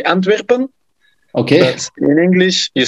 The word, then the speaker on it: Antwerpen: And yeah, in Belgium we say Antwerpen.